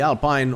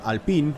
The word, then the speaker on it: Alpine: his perspective from uh the alpine or alpine as uh we should call it in a beautiful french pronunciation it's uh it's the